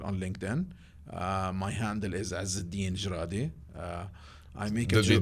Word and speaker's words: Ezzeddine Jradi: So it's EZZIDDINE J like Joseph RADI.